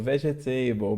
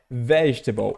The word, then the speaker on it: vegetable: Todo mundo vai ler isso aqui e a boca coça para falar aqui, ó, table, vegetable, mas não é, pessoal. A pronúncia aqui é vegetable, o começo que é o forte.